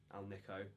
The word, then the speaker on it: AlNiCo: to decide what Al Al Niko as I now know it's pronounced speaker I'm going